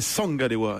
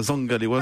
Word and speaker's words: Zangalewa: C'est du Douala et c'était Sangalewa et non pas Zangalewa, c'est Sangalewa qui se prononce plus avec l'accent du sud.